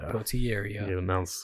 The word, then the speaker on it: Potieria: Potieria. You pronounce all the letters like good old American, which he's not, but that's the thing that I just said.